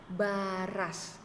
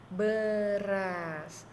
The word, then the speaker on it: beras: Kalau kita tidak memberikan anak surat bicek, bacanya baras. Karena kita sudah memberikannya, dilihat di situ di bukunya ada seperti tanda petik. Nah, itu kita ganti menjadi anak surat E. Jadi dibacanya beras.